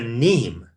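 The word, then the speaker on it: mneme: is spelled MN e m a neem it's pronounced neem it could be NE M A neem I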